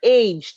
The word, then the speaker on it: aged: For these words, the ed ending is pronounced like an id.